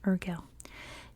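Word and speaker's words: Urgell: be the bishop of urel which is how you say it in English urel in nearby Spain and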